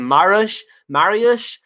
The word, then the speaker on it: Mariusz: Marius says it's correctly pronouncing. Well, that's great. I know some Polish people who are named Mariusz. So I was wondering if I was pronouncing it wrong, Marius. So that's good.